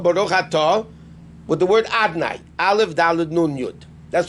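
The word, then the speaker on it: Adonai: But we don't pronounce it Yud Ke Vav Ke. It's written Yud Ke Vav Ke. How do we pronounce a bracha? Baruch Atah, with the word Adnai.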